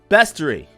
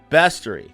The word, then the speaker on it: bestiary: uh by the way pronunciation bestory see bes no a bestiary okay but if you